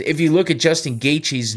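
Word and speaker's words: Gaethje: you look at Justin gaichi's name if you just look at it how the do you say that right like you wouldn't think it's gaichi but that's how you say it so anyway gaichi's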